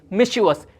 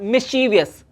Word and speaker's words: mischievous: The correct pronunciation of this word is mischievous, not mischievous.